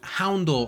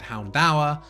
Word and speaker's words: Houndour: Now I know based on how it's spelled, it should probably be said Houndour. I've heard both, and that's just how I said it as a kid, so that's what I've always stuck with.